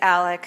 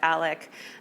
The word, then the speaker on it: Alex: is Alex Alec it's Alec I mean it's spelled Alex but it's pronounced Alec um I don't know